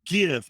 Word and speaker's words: gif: why he shouldn't win hard g gif not soft p like peppa peter pan damn that's